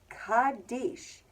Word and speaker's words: Kadesh: The first part, Kadesh, is a Hebrew word spelled with Kuf, Daled, Shin. K-d-sh. Can you think of any other words that sound like those sounds?